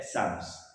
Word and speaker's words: Psalms: So P is silent. Yeah, Psalms.